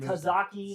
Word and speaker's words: tzatziki: Well, Well, how do you pronounce it? Tzatziki.